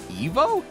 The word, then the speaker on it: Ivo: is curious is that they pronounce it Ivo I've always pronounced it like that but apparently the correct pronunciation of that name is Evo by my name is